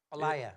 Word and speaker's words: Alaya: Alaya. Alaya. There's no I in it, but Y sounds like I. Is that Yeah. it? Alaya.